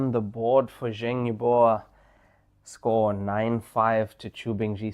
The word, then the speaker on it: Yubo: And uh in the case of Yubo, it's not Yubo, it's Yuba like that.